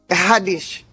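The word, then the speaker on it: Haddish: Hadish hadish.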